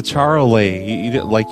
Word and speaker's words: Charolais: No, it's a charolais. You don't see it. It's spelled charolais. Charolais. It's Paris talk.